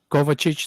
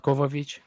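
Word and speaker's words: Kovačić: team no one deserves his name is kovachich not kovovich pronunciation for names but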